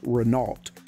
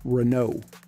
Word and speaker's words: Renault: up in the US always heard this brand pronounced Renault but it's actually pronounced Renault our fourth car is a Nissan 300 ZX